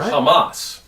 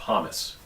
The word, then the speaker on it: Hamas: therefore Israel's overreacting in are you putting the emphasis on the first syllable like Churchill would call Hitler Nazis because they're Hamas not hamus you make them sound